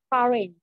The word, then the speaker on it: pharynx: Next one is pharynx. All right, I want you to pronounce the X for me, pharynx.